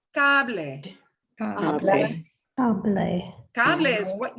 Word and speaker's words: cable: Oh, no such thing as a silent E, ever. So this is pronounced cable.